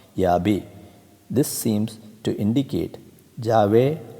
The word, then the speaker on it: Yahweh: According to tradition, the word was pronounced Yahweh.